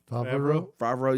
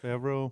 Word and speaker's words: Favreau: Favreau, yeah. Favreau.